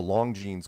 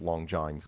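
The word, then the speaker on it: Longines: a show called The Long jeans chronoscope which I Pro mispronounced As Long John's chronoscope because what the hell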